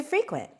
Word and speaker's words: frequent: Here are some alternative ways to say I go to frequent. Frequent is the correct pronunciation. You put the stress on the second syllable, but it's not a synonym of to go.